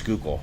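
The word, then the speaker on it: Schuylkill: out that way listening to people try to pronounce skookul oh God but even in Reading how they the skookul river flows right bying I know but they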